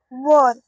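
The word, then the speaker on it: were: और वॉर डब्ल्यू ई आर ई वॉर। बहुत लोग इसे वेयर भी बोलते हैं। बट इसका असली प्रोनाउंसिएशन क्या है? वर।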